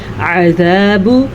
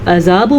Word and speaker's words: عذاب: کا دھیان رکھنا ہے۔ عذاب، اگر آپ اس لفظ کو عذاب پڑھتے ہیں تو غلط بات ہے، اس کو پڑھتے ہیں عذاب جہنم غنہ، وبئس المصیر۔